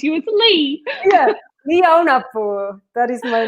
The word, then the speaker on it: Aunapu: Yeah, Ly Aunapu. That is my name. I know. I added too much of a poo on the end.